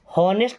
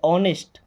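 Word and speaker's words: honest: ऑनेस्ट को ध्यान से देखिए, यहाँ पे एच साइलेंट है। हॉनेस्ट नहीं पढ़ते, ऑनेस्ट।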